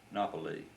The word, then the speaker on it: Napoli: at Naples Monopoly is the name of it in Italian Napoli that's the way it's pronounced today anyway that's where we